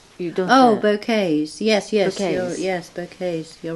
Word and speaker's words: bouquet: Oh, bouquets. Yes, Bouquets. Yes, bouquets. You're right. Yeah. In Japan, we say bouquet. Do you? Bouquet. Yeah. Because so we, I don't know. We picked a French pronunciation.